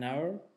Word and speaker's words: hour: in the mountains an hour an hour spelled with H hey to your aspirin same pronunciation is our nuestro but with H